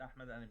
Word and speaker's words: Ahmed Al-Ameen: this new comic well uh my name is ahmed anime you actually pronounced my name right and you're actually the